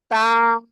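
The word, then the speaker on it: ط: জিহ্বার আগা সামনের উপরে 2 দাঁতের আগায় লাগাতে হবে।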